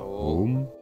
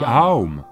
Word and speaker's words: Aum: Si vous prononcez ces trois sons ensemble, qu'obtenez-vous? Ce n'est pas Om.